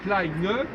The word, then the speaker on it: Kleine: Alors que dans Kleine, On prononce le N. on prononce le N, même au masculin, on dit même.